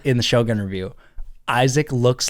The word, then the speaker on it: Aizec: you that don't know it is pronounced Isaac but spelled a i z e c so very different I've never seen another